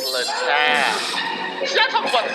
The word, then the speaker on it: Littal: It's Littal.